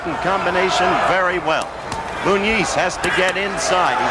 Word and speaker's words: Muniz: Muniz, which is the way they've asked us to pronounce his name, Muniz, floored Palomino in the very first round that time and was dominant in the early rounds.